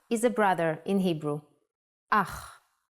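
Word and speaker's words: אח: Ach. The pronunciation is important. Try to pronounce it more glottally from your throat.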